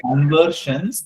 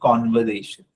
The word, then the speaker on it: conversation: No, It's no, not it's conversions, it's conversation.